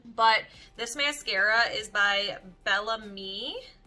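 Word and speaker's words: Bellame: But this mascara is by Bellamy, I believe is how you say it. It's B-E-L-L-A-M-E, Bellamy, and it's a high definition mascara.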